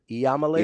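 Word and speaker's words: Iamaleava: I think you're missing a whole syllable. Is it Iamalaeva? Yeah, it starts with an I. I don't know how you just jump to L's. I'm not. Yama. Huh. Like Yamo be there.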